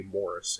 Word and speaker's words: Maurice: and investigators maurice gross although i've heard him say morris it's spelled maurice morris gross maybe and guy leon play